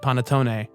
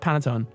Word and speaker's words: panettone: Christmas bread called panettone, and if you're a loser, you pronounce it panettone. I mean, I know. What's her name? Gia De Laurentiis. Coco Peru says panettone. Panettone. Microwave. Yeah, get out of here. Microwave. Listen, it's pronounced panettone.